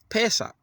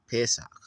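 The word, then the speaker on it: פֶּסַח: It's the short A sound. Pesach.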